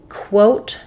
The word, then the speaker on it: quote: So these are exactly the same, except that the initial sound of quote has the w sound, whereas coat just has the k sound.